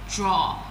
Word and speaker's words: drawer: You call it drawer, but it's pronounced as draw.